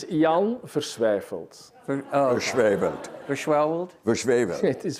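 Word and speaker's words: Jan Versweyveld: your plays, Network you designed with your partner Jan Versiewald. Did I pronounce that correctly? No, but please. Would you please pronounce it's it correctly? It's an impossible name. It's Jan Versiewald.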